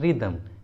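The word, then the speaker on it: rhythm: अगला है रिदम, रिदम, देखिए यहाँ पर एच आर के बाद आया है इसलिए एच को प्रोनाउंस नहीं किया गया है, एच साइलेंट है इसलिए उच्चारण होगा रिदम, रिदम।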